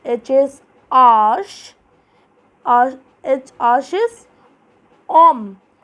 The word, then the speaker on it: homme: Then it is H is arch is homme. So in French, H is pronounced silent, okay? So it is homme, man.